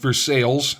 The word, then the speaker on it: Versailles: These events carried imperfectly to Vers to Versailles actually in Pittsburgh that would be pronounced Versales.